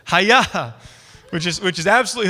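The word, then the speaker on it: היה: the Hebrew word hi-yaa so you say hey yeah that's how you say it hai-yah which is which is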